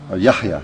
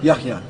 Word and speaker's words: Yahya: Yahya, Yahya.